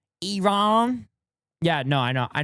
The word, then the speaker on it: Iran: It's pronounced Iron.